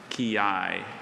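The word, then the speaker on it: quillai: Could you please repeat the word ki?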